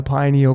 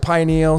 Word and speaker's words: pineal: But we're going to extend upon the decode of the pineal gland. I pronounce it pineal. Some of you may now pronounce it pineal. Please don't be the pineal or pineal police, okay?